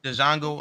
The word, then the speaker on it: Django: Yeah, that shit funny as hell, It's especially not the Leonardo Django. DiCaprio. Django, man. Didn't Period. you It's see when he Django. when he popped homeboy and said the D is silent?